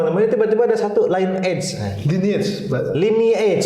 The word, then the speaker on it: lineage: Lineage. Dibacanya lineage. Ya, dibacanya lineage. Kalau line edge saya jadi gamer.